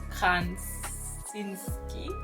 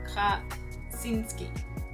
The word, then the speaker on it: Krasinski: I still cannot pronounce it. John Krasinski. No, why am I saying N? John Krasinski.